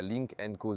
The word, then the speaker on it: Lynk & Co: Avec Thomas sur Auto GFUL en 4K, plein écran et en intégralité, c'est parti avec la Link Enco 08. C'est la prononciation officielle et c'est aussi en quelque sorte une version hybride rechargeable sœur du Zer Sept X.